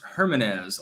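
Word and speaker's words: Jiménez: Jimenez is pronounced Hermanez, lol, says Anthony Rodriguez.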